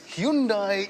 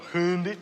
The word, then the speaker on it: Hyundai: They must have worked their way down a fairly lengthy list of manufacturers because they've ended up with this Hyundai Elantra.